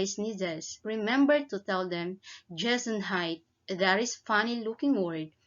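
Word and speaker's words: Gesundheit: remember to tell them jason height that is funny looking word which is pronounced jason hyde it is the german word that wishes someone good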